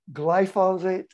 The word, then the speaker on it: glyphosate: And he said in the late 70s, he started studying dioxin and later PCBs and later glyphosate, how do you pronounce it?